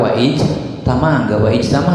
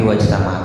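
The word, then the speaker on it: وَاجْتَمَعَ: Tapi kalau di tengah wafta'ala pakai waw misalnya wafta'ala, ijtama'a jadi pakai waw wajtama, enggak wa ijtama tapi wajtama. Kenapa? Karena itu hamzah wasol.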